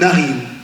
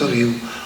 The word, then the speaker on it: riou: Un riou, on dit un ariou. On écrit riou, on le prononce ariou.